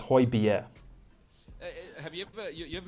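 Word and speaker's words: Højbjerg: hoiberg plays for tottenham he is pierre emile hoy bier so it's hoy bier have you ever you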